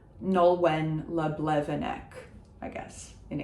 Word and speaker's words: Nolwenn: So we are pronouncing the N of Nolwenn. This is not a nasal. It's not following French language rules because it is not French language. It is a Celtic language, Breton, le breton. So Nolwenn, le Blevennec.